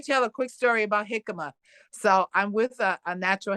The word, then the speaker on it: jicama: to know I um jicama is that one yeah am I saying it right yes yes it's actually like spelled with a J you know right like yeah please j i c a m a oh okay yeah